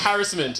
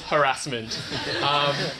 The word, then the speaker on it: harassment: if you google it if you google it and you look at the phonetics and the RTI dictionary harassment okay the second pronunciation is harassment if your honor